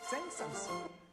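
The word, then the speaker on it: Saint-Saëns: 공부에 사이트에서 옛날에 우리는 생산 이라고 불렀어요 변화도 프랑스 발음 표기에 사람 이름이 들어가면 마지막 s 로 발음해야 된답니다 센서스 굉장히 유명한 음악들이 많죠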